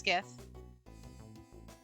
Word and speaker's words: GIF: um give me those is it pronounced gif or jiff it's gif jade wait time out